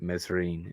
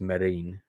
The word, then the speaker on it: Mesrine: Some people mispronounce it, call it Mesrine. It's Marine. So they would all be in my top 20 films, and they're also in the book.